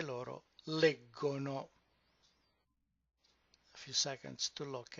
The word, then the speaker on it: leggono: It's leggiamo, leggete, but when it goes to the third person plural, the stress moves one syllable up and it becomes leggono.